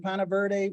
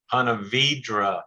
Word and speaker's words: Ponte Vedra: I believe it's in Ponte Verde, Florida, and is it the Sawgrass Marriott? Ponte Vedra, Florida. That's a Florida pronunciation.